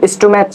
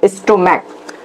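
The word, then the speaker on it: stomach: আমরা প্লুরাল করব কিন্তু যদি সি এইচ এর উচ্চারণ কিসের মত হয় ক এর মত হয় তাহলে সেখানে আমাদের শুধুমাত্র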